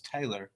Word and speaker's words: Taylor: bonjourno well that's why people think people think my name's Tyler because I said Taylor but it's really it's Taylor but I say it like Tyler that's Tyler for a